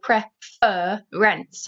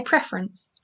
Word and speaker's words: preference: word prefer so preference you don't emphasize the fur in the word preference i don't say prefer rents i say preference next one transfer we